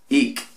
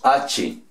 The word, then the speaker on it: ache: Nosotros los de habla española o castellano la leeríamos H, ¿cierto? Porque así se escribe. Pero la pronunciación en inglés equivale como a ick. Ick. ¿Ok? O con C, vamos a decir ick.